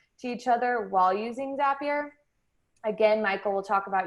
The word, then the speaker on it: Zapier: we have zapier so zapier actually rhymes with happier which is a fun